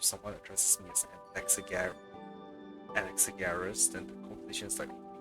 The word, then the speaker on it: Anaxagoras: Anaxagoras, sorry, that's how you pronounce it.